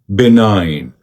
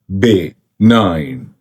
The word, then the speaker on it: benign: This word key correct pronunciation here. benign benign benign be nine be nine be nine benign benign benign